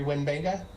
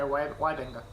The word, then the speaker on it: Wybenga: Are you familiar with Gary Wenbenga? Gary Wybenga, yeah. He's really awesome. Did I pronounce it wrong? Yeah, Wybenga.